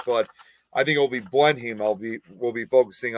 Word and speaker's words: Blenheim: uh what i think i think how you pronounce this why curse place and uh blunt blenheim blenheim palace so both uh you know i i